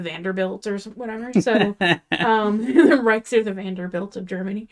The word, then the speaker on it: Reich: And our last name is Reich, which even if you like don't pronounce it rich, like in German it does essentially like translate to rich.